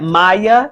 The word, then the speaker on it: Maya: So I'll go on to explain that Maya, your name has 2 syllables. Maya. That means you could hear 2 vowel sounds. Your first syllable is my, and your second syllable is and that's the A making that schwa sound or that lazy sound. And the schwa sound is not short like apple, and it's not the long A like A in cake.